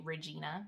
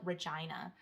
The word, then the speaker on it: Regina: hate my name because everyone would pronounce it wrong they would call it regina regina is the capital of saskatchewan and regina rhymes with i'll let you you fill in the blanks kids used to have